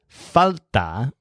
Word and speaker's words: falta: fell out the word falta when you stress foul there felt a-- means lack for example